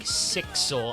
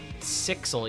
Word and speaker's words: SXL: SXL's name is said like 6L run together, like Sixel.